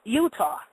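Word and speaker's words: Eutaw: of which is called Utah but it's spelled EU t a w but it's pronounced Utah just like Utah and uh wherever the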